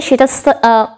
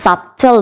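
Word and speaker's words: subtle: আগে যদি বি থাকে সেটা সেটা সাইলেন্ট হয়ে যায় ওয়েল সো আমরা এটাকে কি বলি আমরা নর্মালি অনেকেই এটাকে সাবটল বলি বাট নো it's wrong the pronunciation will be সাটো সাটো অ্যান্ড the next depth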